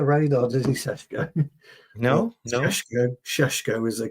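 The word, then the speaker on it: Šeško: This is how you pronounce it, Sheshko, not Sesko, Sheshko.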